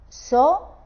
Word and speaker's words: asociáis: Por ejemplo, el diptongo I, A, I. Estas tres vocales, cuando os las encontréis así, las pronunciaremos en el mismo golpe de voz. Y un ejemplo sería asociáis. Si os fijáis, si separamos esta palabra en sílabas, diríamos asociáis. O sea, todo esto, el triptongo entero, y con la consonante esta primera y la última, sería una sola sílaba.